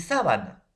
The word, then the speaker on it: sábana: La pronunciación, sábana, sabana. Entonces, profesor, la pronunciación tampoco no va a ser igual, va a tener ligera diferencia por el nivel de acento.